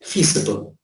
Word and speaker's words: feasible: Feasible, now notice the pronunciation here, this is visible, this is feasible, this is this is visible, this is feasible.